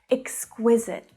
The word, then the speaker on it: exquisite: Exquisite. Exquisite. Now, a lot of these adjectives that we've been talking about today have this k-w consonant cluster. Exquisite. Now, the stress here is on the middle syllable, and at the end,